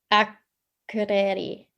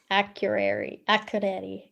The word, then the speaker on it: Akureyri: So forgive me if I don't do the pronunciation justice, but it's Akureyri. Akureyri.